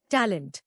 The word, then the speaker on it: talent: नया लफ्ज टैलेंट. इसको तोड़ते हैं तालिएंटी. जोर ताल पर है.